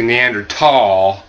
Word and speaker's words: Neanderthal: looking at and yeah the correct modern pronunciation is actually neander tall right that H they removed that H for some reason from